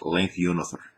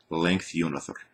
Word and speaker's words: Length-Unother: there, since you asked, my name is pronounced Length-Unother. Length-Unother. It's a long story as to why that is my YouTube name, and I'm not going to go into it right now, but it's pronounced funny because it is Icelandic.